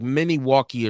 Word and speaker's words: Milwaukee: So they said Milwaukee, but I think the Native Americans was calling it like Miniwalkie or something like that.